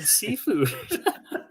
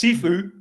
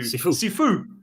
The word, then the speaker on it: Sifu: I keep hearing seafood. Actually, it's totally Chris. Sifu. Okay, I'll overpronounce the U. Sifu.